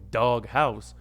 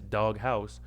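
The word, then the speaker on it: Daughaus: spot near my hookah spot called dog house but that's spelled uh d-a-u-g-h-a-u-s dog house and like their cuisine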